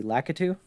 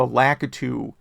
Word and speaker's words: Lakitu: And this bug is on the stages with the Lakitu. That's how you pronounce it, right?